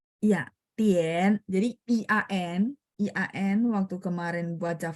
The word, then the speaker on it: 点: Terus kalau misalnya Tien juga sama ya, IAN. Jadi A-nya jadi agak Tien. 点 Tien ada 3 ya.